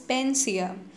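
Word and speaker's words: panacea: पेंसिया, ठीक है, प्रोनाउंसिएशन पर ध्यान देना, इसे बहुत ज़्यादा लोग गलत भी बोलते होंगे, लेकिन इसका जो करेक्ट प्रोनाउंसिएशन है दैट इज़ पेंसिया।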